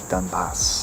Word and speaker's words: Donbas: okay roses have thorns and silver fountains mud dunbas am i pronouncing that right yes clouds and eclipse stain